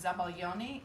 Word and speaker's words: zabaglione: it that's the custard it's in italian it's zabal yoni in french it's a sabayon and they think that